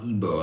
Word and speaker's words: Igbo: If you look up IGBO language, pronounce ebo. A lot of people say ebo. I don't like doing the b sounds cuz I don't think they're healthy, but other people disagree.